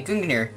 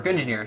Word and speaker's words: Gungnir: I'm gonna draw a Gungnir, or Gungnir, however you want to pronounce it.